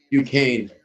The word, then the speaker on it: Duquesne: How did you say we pronounce this Duquesne team? Duquesne.